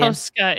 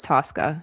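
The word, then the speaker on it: Tosca: Is it Tosska or is it Tusca? It's Tka. I think so. In Italian. Tosska is more Italian, but we everyone says Tusca in Okay.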